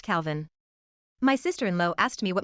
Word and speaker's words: Kelvin: Baraline, 4F, pronounced Bryalyn, Falcon, 3M, pronounced Falcon, Rorai, 3F, pronounced Rory, and Kelvin, 1M, pronounced Calvin.